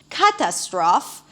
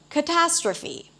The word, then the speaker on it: catastrophe: So, for example, you may hear someone saying engineer instead of engineer, catastrophe instead of catastrophe.